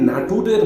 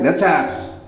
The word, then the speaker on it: Nature: আচ্ছা, এই নাটুরের বানান কি হবে? বানানটা বলো তো। স্যার, বানানটা হইল গিয়ে NATURE, নাটুরে। আরে গাধা, এটা কি নাটুরে হয়? NATURE এর উচ্চারণ তো হয় নেচার।